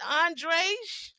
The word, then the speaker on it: Andre: Andre? Ashtray? Rhymes with ashtray.